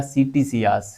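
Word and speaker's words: Ctesias: में रखनी है ठीक है देखो कैसियस या सीटी सियास यह नाम आपको ध्यान में रखना है कैसियस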